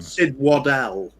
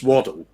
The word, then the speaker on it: Waddell: Sid Waddell. Waddell. Yeah, we used to have a player called Chris Waddle. That was a Waddle, but this is Chris. This is Sid Waddell. It's a different pronunciation.